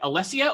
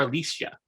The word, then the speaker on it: Alecia: i have with me is it alessia or alicia it's alicia alicia alicia i like the